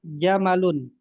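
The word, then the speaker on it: جَمَل: Mimnya pendek. Jamalun artinya unta. Tapi kalau mimnya panjang artinya bagus ya atau ganteng. Iya, ganteng juga bisa, indah juga bisa.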